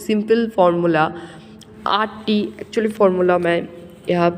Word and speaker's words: mho: यहाँ पे ओहम, ये इसका स्पेलिंग क्या है ना, OHM, और यहाँ पे इसका यूनिट क्या है ना, MHO मीन्स मो.